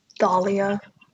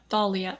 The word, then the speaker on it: Thalia: Dahlia. Yeah. Dahlia? No. Thalia with a T.